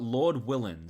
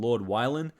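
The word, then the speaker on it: Lord Willin': So, I don't know why, but for the longest time, I pronounced this album Lord Wylan. I clearly did not see that there were two L's in the title, but that's just my bad.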